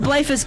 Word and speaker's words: Bleifuss: and then I made fun of his name, Bleifuss. I said Bleifuss correctly off the air. That's why you know what? I'm gonna meditate on it for a minute. That's Joel Bleifuss and Justin Perkins of Barn Raiser, independent source